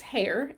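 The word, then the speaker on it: Haie: if you don't know my last name is hair but it's not spelled like a rabbit um it's not spelled like a hair ha a r e it's h a i e but can you see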